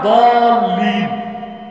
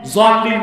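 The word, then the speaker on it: الضالين: তো আসলে উচ্চারণটা দলিম, জোয়াল্লিম না। জোয়াল্লিম পড়লে বরং নামাজি হবে না।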